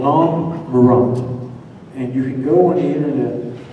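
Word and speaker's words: Nhom Marrott: Again, the POW camp was called Nam Murat, and I'll spell that. N-H-O-M-M-A-R-R-O-T-T, Nam Murat.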